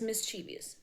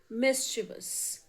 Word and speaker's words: mischievous: We have always spoken as mischievous but it is mischievous. Mischievous. Second word is pronunciation.